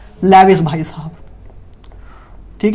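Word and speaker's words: Lewis: था लियोइस, ठीक है, मैं लेविस कह के बुलाता हूँ वैसे, लेकिन काफ़ी लोग प्रनाउंस करते हैं लियोइस नाम से भी, ठीक है, प्रनाउंस देख लेना, आपको कुछ इधर प्रनाउंस करना तो देखना नहीं, आपको जेई नीट क्लियर करना है, तो मैं लेविस ही बोलूँगा, आप अपने अकॉर्डिंग जो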